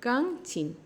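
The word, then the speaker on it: 钢筋: রড মানে হচ্ছে গাংচিন। গাংচিন। টোনটা খেয়াল করুন। গাংচিন। গাংচিন মানে হচ্ছে রড। যেখে আসলে চ এবং জ এর মাঝামাঝিতে একটা প্রোনাউন্স হয়।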